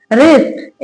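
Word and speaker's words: wrist: डब्ल्यू लिखा है आर हो तो डब्ल्यू साइलेंट रहता है।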